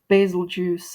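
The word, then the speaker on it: Bazelgeuse: Uh let's see his his fight generally basil juice is which again basil juice is how I say it because or yes basil juice because it's spelled like beetle juice like the star um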